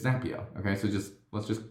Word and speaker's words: Zapier: the site that said zapier makes you happier and i guess that